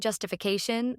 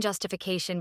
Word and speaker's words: justification: takes the secondary stress in the longer form. So, the stress in justification becomes 1, 0, 0, 2, 0.